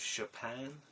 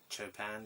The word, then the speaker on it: Chopin: So, Chill with Chopin, or Chopin, depending on how you want to pronounce it, but I think it's Chopin.